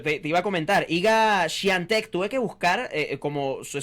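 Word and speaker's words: Świątek: Yo dije, no, yo quiero decir esto bien al aire, porque yo podría leerlo literal y es Iga Swiatek, pero no, es Swiatek, es la pronunciación correcta.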